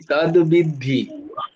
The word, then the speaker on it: তদ্বিদ্ধি: শোনো, উচ্চারণটা খুব ভালো করে মুনমুনমা। তদ্বিদ্ধি, তদ্বিদ্ধি, উচ্চারণটা হচ্ছে তদ্বিদ্ধি।